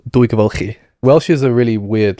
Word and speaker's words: Dwygyfylchi: In a town called, my village was called Dwygyfylchi.